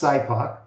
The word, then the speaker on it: SIPOC: It's pronounced SIPOC.